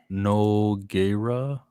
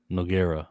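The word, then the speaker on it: Nogueira: pronounced Noggera. Noa. Noggera.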